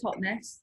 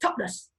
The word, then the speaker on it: Totnes: Well, I say Totnes, yeah, but actual Totnesians say Totnes.